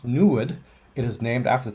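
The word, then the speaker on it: NEID: why instruments such as newed which is noir lab's new planet hunter installed on the 3.5 meter telescope are needed pronounced new wood it is named after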